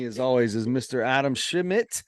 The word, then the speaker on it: Schmidt: Adam Schmidt. How are you today, sir? I almost forgot how to say your last name there. It's two syllables. Yeah. It's Sha and Mitt.